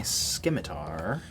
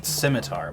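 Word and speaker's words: scimitar: back and draw my skiar skar it's pronounced simitar but I decided to make the C hard for comedic effect but it wasn't funny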